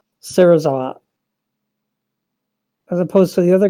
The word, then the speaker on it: Serizawa: they kill themselves sometimes fully pronounced his name gave the correct four syllable version of it Serizawa as opposed to the